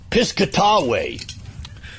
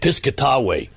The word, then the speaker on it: Piscataway: I come from Piscataway. Piscataway. Is that how they say it now? That's how we used to say it, Piscataway.